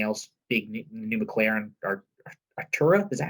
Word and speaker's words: Artura: Big new McLaren or Artura? Is that how you pronounce that? Yeah, the McLaren Artura.